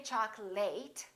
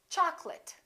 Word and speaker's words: chocolate: say chocolate and remember don't say chocolate it's chocolate I'd like some chocolate